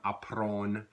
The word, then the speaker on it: apprendre: One of the things you'll hear is like that DRE verb in Louisiana French tends to be not pronounced. It becomes, we just kind of extend that nasalized vowel sound, apprendre.